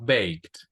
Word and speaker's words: baked: Bucket, No, no pronunciamos la E, decimos baked.